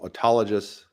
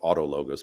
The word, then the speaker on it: autologous: donating to yourself is called autologous donation or Auto logos people pronounce it differently and um you know